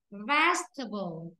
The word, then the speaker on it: vegetable: Vegetable. Vegetable. Vegetable. Rất tốt. Đấy. Rất tốt. Ở đây đó phải rơi vào chữ ve.